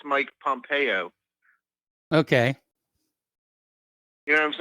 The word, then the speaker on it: Pompeo: It's not Pompeo. It's Mike Pompeo. Okay. You know what I'm saying? Yes. I was putting the emphasis on the wrong syllable.